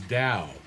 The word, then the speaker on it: Dao: time as Musa mentions the operative term here is Dow uh typically now we spell it Dao you might see it spelled Tao uh scholarship now is leaning toward the use of the letter d da and dowst and so